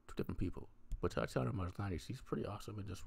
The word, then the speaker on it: Maslany: Tatiana Maslany.